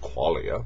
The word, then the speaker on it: qualia: clay Leah language now I always like to pronounce qualia Kweli I though although I think most people call it qualia but I don't know I like calling it kweli for some reason so forgiving in dollars